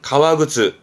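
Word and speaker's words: 革靴: 발음은 가와그츠.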